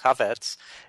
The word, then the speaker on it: Chafets: Chavez's new book and it's spelled c-h-a-f-e-t-s but it's pronounced covets it's uh it's Rush